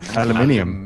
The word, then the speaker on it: aluminium: there's a difference but aluminium you're you're adding extra letters there's an extra I in there that's not supposed to be there I KN this be